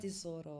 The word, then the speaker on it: Tesoro: I've never met Laura Tesoro, or I don't know how to No? pronounce her Yeah, last Laura name. Tesoro.